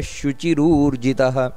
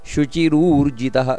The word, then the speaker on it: ಶುಚಿರೂರ್ಜಿತಃ: ಹಕಾರ ಬರಬೇಕು ಕಡೆಗೆ ಪ್ರಾಂಶುಮೋಘ ಶುಚಿರೋರ್ಜಿತಹ ಶುಚಿರೋರ್ಜಿತ ಅಲ್ಲ ಶುಚಿರೂರ್ಜಿತಹ ನಂತರ ಅತೀಂದ್ರ ಸಂಗ್ರಹ ಸರ್ಗೋ